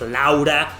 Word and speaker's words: Laura: Laura, even though she's pronounced as Laura. The same way it's pronounced in Japanese, it's pronounced in Spanish, Laura.